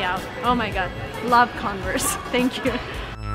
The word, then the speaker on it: Converse: weird at converse yeah that's more of an emphasis on the CEO of the CEO and in the last part of it converse this is by the